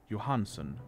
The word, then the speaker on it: Johnson: I just remembered was Albert Johnson pronounced Johansen for some [ __